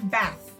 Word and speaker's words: bath: Okay, so for example, th in bath. Okay, so put your hand to your throat when you pronounce this word bath, and you'll feel no vibration.